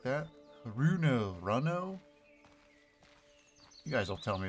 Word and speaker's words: Runo: there like that aruna runo you guys will tell me if i'm pronouncing it wrong or you know sounds cooler like the card game uno but with an r in front of it keep an eye out